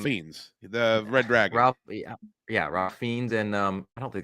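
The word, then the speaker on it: Ralph Fiennes: that movie Ralph fiends the red dragon yeah ra fiends and um I don't think that's how you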